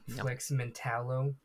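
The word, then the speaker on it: Flex Mentallo: I'm I'm saying that flexmental is how you pronounce it. That's what they said in the show.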